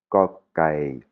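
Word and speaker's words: ก ไก่: Kokai. Kokai. Ouais, c'est ni un "k" ni un "g", c'est une prononciation qui est très subtile. C'est entre le "k" et le "g", hein.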